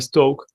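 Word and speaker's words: Stokes: lo vamos a pedir se escribe stockes te se dice teorema de stoke y ese nos dice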